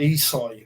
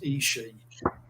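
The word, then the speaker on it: ESCI: Because I know it as Esky. Right. You call it something else. I used to call it Isai, but I had an Italian sub me, and he told me it's pronounced Ishi.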